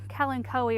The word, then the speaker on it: Kalanchoe: This is a panda plant right here, Kalanchoe or Kalancho if you live in my area, that's how we pronounce it.